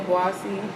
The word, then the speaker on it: Obuasi: Yeah, because I went to Kumasi, Obuasi. Did I say it right? Yeah, Obuasi.